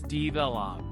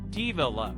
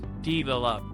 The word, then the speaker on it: develop: Next, learners often say develop as develop. The correct pronunciation is develop. Repeat, develop. Excellent.